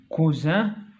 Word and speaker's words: cousin: donc cousin, coussin. donc la lettre qui change le son c'est S. Ici il y a une seule S. Cousin se prononce Z.